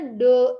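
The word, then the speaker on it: ∂: Ini bacanya do XY per do UV. Do ya. Kita biasanya pakai D, ini do.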